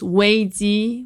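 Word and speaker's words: 危机: chinese the the word crisis and names it pronounced wayzi which literally two words combined danger and opportunities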